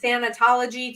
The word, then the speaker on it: thanatology: in with all all this grief knowledge and thanatology did I get that did I did I pronounce it right yes oh awesome and meh